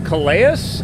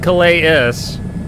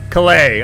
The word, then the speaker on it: Calais: Flying, I guess this is Calais? I might be again, I'm probably mispronouncing everything horribly. I can't really catch up with the F-18. Calais? I said Calais-is. Calais? Silent S, okay.